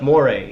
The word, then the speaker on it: moray: That's moray eel. Moray. There it is. Okay, different pronunciation.